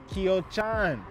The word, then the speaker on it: Kyochon: and we're gonna check out this chicken spot kyochon is how you say it exactly we got it I got it like three four times and this you know I got it right now got it right kyochon fried chicken they're known for their fried chicken